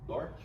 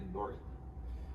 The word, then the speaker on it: Doherty: Essa é a segunda lei da UX e se pronuncia Dort, mas a escrita é assim: Dó, Ré, Ti. Limiar de Dort.